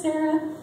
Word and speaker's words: Sarah: Her name is Sarah, but it's pronounced Sara.